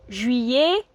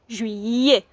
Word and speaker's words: juillet: So the word July in French is juillet, which is spelt J-U-I double L-E-T. So the double L is y, juillet.